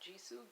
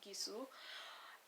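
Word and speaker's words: Gisou: Not Jisoo, Gisu.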